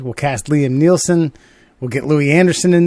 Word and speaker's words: Neeson: It's Neeson. Yes. What do I say? Nielsen? Yes. Nielsen, or some strange combination. Nielsen ratings. Maybe that's where I get it, because I'm always thinking about the rating system. Neeson. All right. Fucking. It's knee, son.